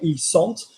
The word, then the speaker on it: ils sont: Because the reading rules videos will teach you that you don't say ils sont because you're not pronouncing that T.